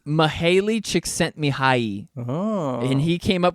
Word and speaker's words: Mihaly Csikszentmihalyi: That is a tough one to pronounce. It's Mihaly Csikszentmihalyi, Oh. and he came up with the term flow state. Mihaly Csikszentmihalyi.